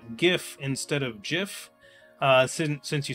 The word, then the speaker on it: GIF: Of course, it's GIF with a hard G.